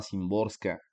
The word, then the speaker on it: Szymborska: la poeta polaca visislava SIM borska Sí ya sé que suena raro pero se pronuncia así visislava simbor no no sé polaco pero pues así se pronuncia no y el poema